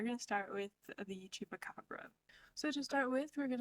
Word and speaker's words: chupacabras: pronunciations it's chupaca or chupacabras both of them are correct but the original pronunciation is with the S so these creatures were